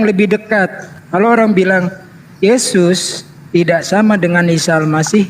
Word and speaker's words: Yesus: disebarkan Kristen oleh Belanda asal Belanda huruf j dibacanya y jadi Yesus dibacanya Yesus Ini sejarahnya nih ya udah tampak kan Mana yang lebih dekat kalau orang bilang Yesus tidak sama dengan Isal